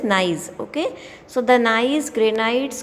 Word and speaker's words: gneiss: So see, the genesis, it is not the correct pronunciation of this. It is the correct pronunciation is this gneiss.